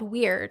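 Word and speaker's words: wyrd: It comes from Norse mythology, and it's called weird. And it's actually where our English word for weird comes from, but it's spelt W-Y-R-D.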